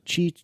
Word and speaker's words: Qi: Chi is that right is that how you pronounced this yes Chi thank you chi Chargers Apple's promoting and the